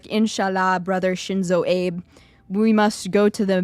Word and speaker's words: Abe: AB it's a it's AB that's how you say his name it's not Abe it's not Abe it's AB that's how you say it I I would no